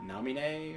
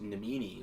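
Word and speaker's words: Naminé: in the game uh Namine or as I pronounced it as a kid uh before they had the voice acting I just namini was what I kept on thinking it was supposed to be spelled as um you know like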